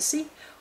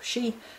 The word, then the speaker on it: Sidhe: so that's it for illumination of the sea or she depending on your pronunciation many blessings